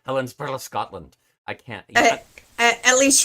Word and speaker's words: Helensburgh: So now I have to say Helensburgh, Scotland.